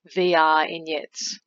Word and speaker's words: V[R]ignettes: double t e s think of it as if you took the word vignettes and inserted r to create vr in the word uh originally this artwork wasn't titled vr ignites it was called a